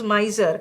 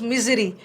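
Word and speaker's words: misery: सबसे पहले तो प्रोनाउंसिएशन देखो, ये माइजर है, this is माइजर and this is नॉट माइजरी, this is मिजरी।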